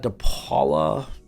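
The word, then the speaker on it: DePaola: but take a look lawn Snapper you got depala that's how you say his name uh Bryan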